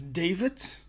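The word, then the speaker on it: D4VD: And one of the people I I'm thoroughly enjoying of this moment is David. It's spelled D4 VD.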